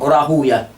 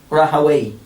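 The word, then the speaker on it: Rahwayh: Rahuya, Ishaq Rahuya, is more preferred. It is used more preferred by the ulama of hadith.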